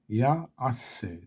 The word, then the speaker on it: יעשה: ועליהו לא ייבול, וכל אשר יעשה, יעשה, 3 syllables, יעשה, יצליח.